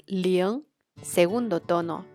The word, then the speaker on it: 零: The number zero is (ling2) 零, here the pronunciation would be the same, except for “g” which is a totally nasal sound, similar to the one you make when you have a cold, let's see its steps